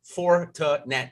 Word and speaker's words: Fortinet: let's talk about the four to nat championship as we say that i had to look it up phonetically so i'm going to say it in three syllables all day here 156